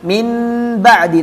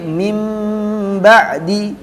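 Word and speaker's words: مِن بَعْدِ: Jadi bunyinya tadi, bunyinya nun sukun atau tanwin itu diganti bunyi mim sukun. Bacanya bukan min ba'di tapi mim ba'di.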